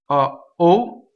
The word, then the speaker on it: O: O is the interjection, O. And this can be either be pronounced open or closed. It's your choice. In this case, in the middle of the sentence, I would prefer that it would be closed.